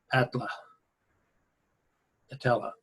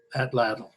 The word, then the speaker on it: atlatl: they used to do it it's called an Atma natella can you see it can't remember how to pronounce that atlatl that's it yeah these are swords they found